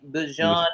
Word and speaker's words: Bijan: Bijan, we got to pronounce his name correctly. Bijan Robinson.